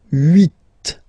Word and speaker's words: huit: Remember in French this H letter here, okay, doesn't exist phonetically, so we don't really pronounce it, okay? So if you listen carefully, you will only listen or hear these vowels at the beginning of the word.